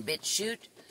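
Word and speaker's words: BitChute: started a channel on bit shoot which is spelled vit B as in boy i t shoot c h UT e is that all one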